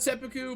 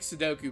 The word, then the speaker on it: seppuku: i have oh yeah no i know it's pronounced seppuku but i like sudoku better commit honorable sudoku let's go to the